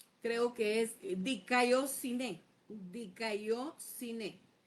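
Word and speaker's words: δικαιοσύνη: No lo puedo pronunciar. Creo que es diciné. Dicóineé.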